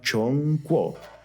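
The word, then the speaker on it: 中国: En los chinos y en el idioma mandarín, China se llama Chongguo.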